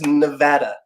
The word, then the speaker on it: Nevada: the cardinal sin what did I it's it's Nevada not n you have to learn how to mispronounce names correctly when you're if there's one